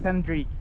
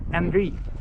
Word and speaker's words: Andrii: It's Andrii. It doesn't have to be your real name. It's my real name. What is it? Andrii.